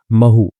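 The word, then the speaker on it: Mhow: या बोलते हैं जिसको महू ठीक है एम हाउ लिखा हुआ है लेकिन हिंदी में जो उसका उच्चारण करते हैं वो महू होता है महू तो महू में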